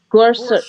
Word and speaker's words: Gorsuch: Brett Kavanaugh, we're going to impeach Gorsuch, because I still can't Gor pronounce his Gorsuch.